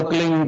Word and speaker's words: क्लीं: ही मात्रा और बिंदी, उसका उच्चारण होगा क्लींग गा। गा की ध्वनि निकलेगी पीछे।